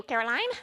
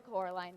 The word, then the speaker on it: Coraline: Coraline, why don't you go visit that actress downstairs? Miss Spink? Sorry. But you No, my said she's daughter. a dingbat. How nice to see you, Caroline. Still Coraline, Miss Spink.